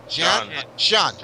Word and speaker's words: Xian: Aric, you might picking up your Cheyenne, or I don't like to mispronounce his name. How do you say his name? Xian. I'll just say it in Jamaican. Xian, right?